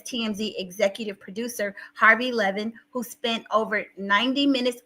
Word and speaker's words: Levin: I'm sorry you guys I keep saying his name wrong but it's Harvey Levan Wendy Williams sounds like